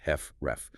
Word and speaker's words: HFrEF: Approximately half of all HF patients have what's called heart failure with reduced ejection fraction or HFREF, pronounced heffref.